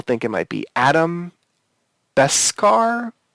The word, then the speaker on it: Brashear: Adam Beskar? How do you pronounce it, I Professor? thought it was Adam Brashear, the Blue Diamond. Brashear, that's his name.